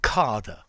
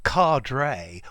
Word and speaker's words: cadre: frame yeah um although i've heard many people's british people say um carder yeah and uh i've heard quite a lot of them americans cardrae or cadree as well but cardra can't to me card yeah um it's probably the posh's way of saying it as well um okay so a card carder cardrae yeah um all are possible okay so let's go